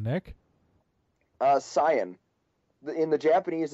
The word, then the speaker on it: Saiyan: What's the proper pronunciation, Nick? Saiyan. In the Japanese, it's Saiyajin.